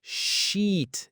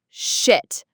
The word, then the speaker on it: sheet: And again, just like beach, it has that long E sound. You really want to hold that sound. Sheet. Yeah, think of it like you're stretching it out, almost like saying she and then T. Sheet. That E sound is the key because if you don't stretch it, if you make it short, it becomes shit, which is, well, a